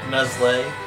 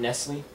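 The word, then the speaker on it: Nestlé: Everybody pronounce it right, by the way. Neslay. Neslay. It's not Nestle.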